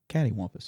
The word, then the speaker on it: cattywampus: Pronounce it for me. Cattywampus.